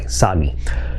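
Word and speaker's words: TsAGI: It's got a silent T in front of it, by the way, SAGI.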